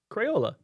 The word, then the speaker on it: Crayola: Crayola. Like with all the syllables, with your whole chest.